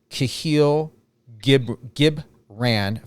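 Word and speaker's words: Kahlil Gibran: And that is a quote by Kahil Gibran, if I'm reading that correctly or pronouncing that correctly.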